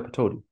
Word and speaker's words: Pataudi: How do you pronounce the name again? Tiger Pataudi.